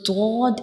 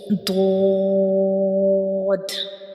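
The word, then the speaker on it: ض: So dod is a bold letter, and when we read it, the sound fills into the mouth, and we will read it with heavy sound like so dod. We will read it with heavy sound dod.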